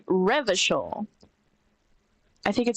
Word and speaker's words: Revachol: Revachol is pronounced Revachol.